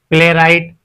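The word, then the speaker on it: playwright: ऐसे ही प्ले राइट। यहां भी हमारा डब्ल्यू साइलेंट है।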